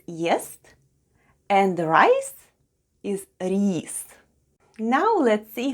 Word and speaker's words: рис: The first sound is R, then goes I, and then we have S. And all together it's рис. Try saying it with me.